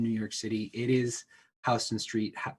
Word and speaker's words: Houston: york city it is houston street that's how people in the city pronounce it 100 yeah furthermore the